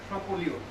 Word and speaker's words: Champollion: tried it, but it was lucky was one Champollion, if I correctly pronounce that. Champollion.